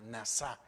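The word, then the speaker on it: נסה: detentar viene de la palabra hebrea NASA como NASA pero con acento en la en la última NASA Y esto es exigir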